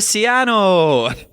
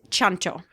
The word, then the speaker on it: Ciancio: listening will know this in Italian is pronounced CH so it's chano chano yeah dog